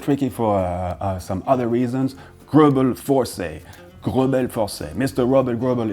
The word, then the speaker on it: Greubel Forsey: So in terms of pronunciation, well, I guess the truth lies slightly in the middle between the French way of saying it, Grobel Forsey, and a more English version, Grobel Forsey.